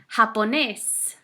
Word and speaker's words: japonés: Japonés, japonesa. Remember, watch out for the pronunciation on that J. J's in Spanish most of the time sound like an H.